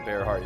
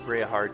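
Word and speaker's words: Bareahard: Bereahard is how you pronounce that. I said Bearhard, it's Bereahard. I guess we should buy our tickets and line up for the Bereahard train then.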